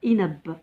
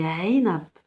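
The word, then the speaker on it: عنب: C'est pas A. On ne dit pas inab, on dit ainab, ain.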